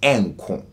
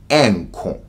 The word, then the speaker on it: renko: But in Twi, the R, when you write it, it's written as renko, but when you pronounce it, the R usually falls away.